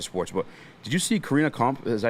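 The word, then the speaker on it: Karina Kopf: But did you see Karina Komp? Is that how you say her name? Yeah, Corinna Koff.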